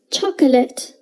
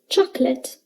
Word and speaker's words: chocolate: chocolate we say chocolate we don't say memory we say memory you might be able to hear a slight uh sound when i say memory and chocolate and if i speak really slowly you will probably notice the uh sound but it's usually very silent try to say it